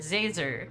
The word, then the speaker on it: Zer: doing it on purpose it's Professor Zer like laser with a z how hard is that